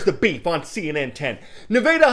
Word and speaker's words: Nevada: Nevada High School, yes, that's pronounced Nevada.